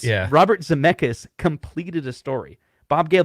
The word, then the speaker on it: Zemeckis: so speaking of that, so Bob Gale and Robert Zemeckis, I always get his name wrong. It's Zemeckis.